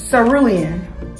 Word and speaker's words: cerulean: This is a little bit more blue than periwinkle, but it's cerulean.